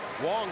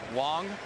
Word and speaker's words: Wang: is chin ming wong spelled wang but pronounced wong and this guy is 6-0 in day games this year he must be hard to pick up and tom he's a big fella wong goes 6-3 220 he's